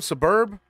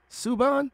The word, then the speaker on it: Subban: How do you say his name? Suburb? Subban.